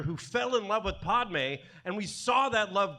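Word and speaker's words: Padmé: we're pronouncing this name is it not Padme yeah because you said podme multiple times yeah that's true I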